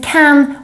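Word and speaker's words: kan: an easier one since can works exactly the same as the english can both in pronunciation and use the only difference is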